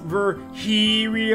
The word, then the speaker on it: Virgilio: we go that's his voice you look winded Virgilio it's pronounced ver here e Oh fine no I'm pretty sure it's for